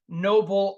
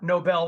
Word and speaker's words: Noble: to my website is Noble automation now and Noble is spelled n-o-b-l-e not Nobel like the Nobel Prize I hope most people